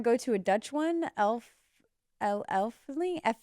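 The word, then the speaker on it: Efteling: Elfling? How do you say it? Eifling? Eifling.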